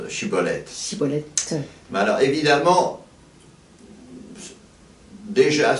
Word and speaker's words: Shibboleth: Alors les méchants, ils ne savent pas prononcer, ils prononcent, je crois, Siboleth ou Siboulette, et les gentils prononcent Shibboleth.